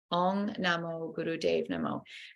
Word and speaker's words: Om Namo Guru Dev Namo: And it sounds like Om Namo Guru Dev Namo. The Dave is like the name Dave. Om Namo Guru Dev Namo.